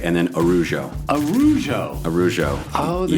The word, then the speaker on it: Araujo: don't do that so that a goes away and just becomes arujo it's like almost like